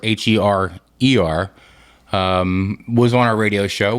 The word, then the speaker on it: Herer: Jack Herer, by the way, it's Herer. It rhymes with terror, Herer.